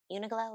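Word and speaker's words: Uniqlo: Uniglow is how you say it.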